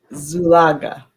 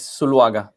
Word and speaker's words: Zuluaga: Yeah, it's Zuluaga. We don't. Zulaga. Yeah, in Colombia, we don't pronounce the Z like it should have that Z sound. It's almost like an S.